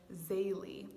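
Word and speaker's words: Zélie: saint zelie martin so zelly was the girl louie was the boy their french name so they might kind of be hard to say some people pronounce her name zaylee but i especially love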